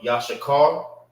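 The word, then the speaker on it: יששכר: name of the brother, which is Issachar or Yashakar, is how you say it in Hebrew.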